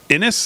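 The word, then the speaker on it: Xinis: And that is this judge, Judge Paula uh Inis, I guess it's pronounced. Maybe the X is silent. Paula Inis who who is a if you looked quick you'd think it was Rachel Matto.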